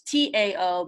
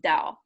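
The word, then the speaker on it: Tao: doubt the chain it's ta oh but it's pronounced Dow yeah oh yeah I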